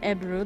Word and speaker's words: ebru: the the turkish name of it is called ebru that's e-b-r-u yep that's how you pronounce it uh but it's believed that most